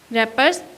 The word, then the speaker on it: wrappers: पी ई आर एस, रैपर्स, इसमें W silent है, इन द आई एन,